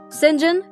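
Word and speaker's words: St John: version of her life sinjin that's spelled saint john diana and mary rivers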